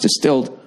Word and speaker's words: Distilled: Distilled, pronounced distilled, offers luxury-grade denim at an affordable price.